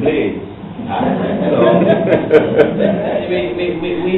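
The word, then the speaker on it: Blades: singer ex-minister of Tourism Reuben Ruben bladz but if you spell it out it is really Ruben Blaze so we we we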